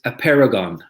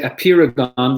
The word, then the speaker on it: Apeirogon: It's Apeirogon. Some people say Apeirogon. They might be right too. And there's two ways to say it.